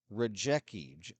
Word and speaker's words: Rajecki: And it is Nate Rajecki, R-A-J-E-C, or I beg your pardon. I've had trouble pronouncing that name all night.